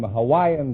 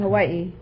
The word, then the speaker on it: Hawaii: yours no innuendos from you we invited some Hawaiian dancing girls to the program tonight now you're